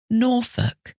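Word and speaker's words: Norfolk: with silent letters or what about some with a silent L norol that's n o r f o l k so a silent L at the end like in the word folk f o l k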